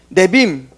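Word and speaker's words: Nevi'im: 네빔.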